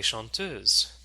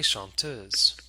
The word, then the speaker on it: chanteuses: we can say les chanteuses. Les chanteuses. Okay. Now if you're looking at the words here, you'll notice that S is added to the end of the plural noun, but it's not pronounced.